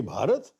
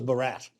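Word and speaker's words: भारत: Have you seen a Westerner pronounce Bharat, by the way? It comes out as Barat.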